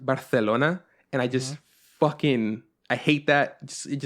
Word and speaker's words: Barcelona: he says Barcelona because it's not pronounced Barcelona it's pronounced Barcelona and I just [